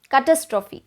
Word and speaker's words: catastrophe: 15 we have catastrophe catastrophe not cat we are tempted to say cat but you have to cut it short like catastrophe catastrophe catastrophe